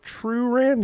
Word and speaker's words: Truran: I think Truran? Yeah, that's how you say his name.